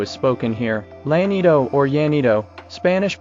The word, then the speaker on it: Llanito: Llanito or Llanito, Spanish pronunciation, Llanito, is a Romance dialect.